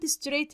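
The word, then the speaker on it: straight: ورايا جو ستريت اهيد عندي كلمه ستريت هنا الجي اتش سايلنت لا تنطق اكنك مش بتنطق جو ستريت اهيد جو ستريت اهيد يعني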